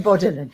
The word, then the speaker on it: Bourdillon: Last name Bordillan.